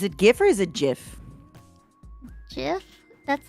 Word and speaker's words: GIF: it can't wait okay the creator claims is jif so i will say jiff because it's the proper way to say it why what do you